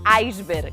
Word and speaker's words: iceberg: E que pasa con iceberg? Porque todos dicimos iceberg. Pois debes saber que a pronuncia recomendada é iceberg, igual que en portugués ou en castelán de Hispanoamérica.